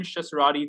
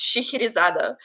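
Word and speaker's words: Scheherazade: is it it's okay so in russian i only know this because there's like a really famous it's either a ballet or an opera i don't know but like i don't know whatever but it's it's shikirizada oh my god so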